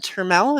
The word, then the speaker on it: Turell: Nikki the caster and Turell is that how you pronounce your name that is indeed how you say it um and we have